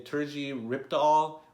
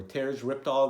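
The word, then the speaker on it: Terje Rypdal: I think it's say Terji Ripdahl or Terj Ripdahl. That's the way I've said it.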